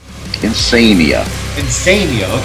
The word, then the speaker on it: Insania: Is it Insania? Is that how it's pronounced? Insania.